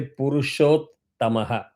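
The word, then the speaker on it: पुरुषोत्तमः: uh when you say Purushot Tamaha such words again you have to pay more attention, apply that rule of half syllable with the previous one.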